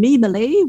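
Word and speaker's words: Meemalee: me a but I go by the name mimalee which is spelled m-e-e-m-a-l-e-e it's not a Burmese name it's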